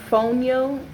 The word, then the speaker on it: fonio: some more healthy nutritious food this is called phony oh that's how they pronounce it this is a source of iron